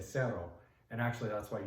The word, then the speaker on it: cero: If you said zero in Spanish, you would say cero.